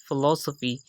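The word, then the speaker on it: philosophy: देख सकते हैं की फिलासफी में हमें दो एग्जांपल्स मिलती हैं की पहले भी पीएच जो है इस शब्द जो शब्द शुरू हो रहा है वो पीएच से शुरू हो रहा है तो यहां भी हमने फेंकी साउंड दी और लास्ट में भी अंध ए रहा है तो वहां पर भी हमने फेक ही साउंड दी फिलासफी उसके बाद फोर्थ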